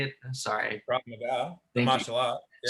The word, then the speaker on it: Krav Maga: Krav Maga, the Thank you.